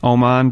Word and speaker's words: Omand: Omand, yeah, that's how a lot of people say it. Omand, really. Oh, it's Omand.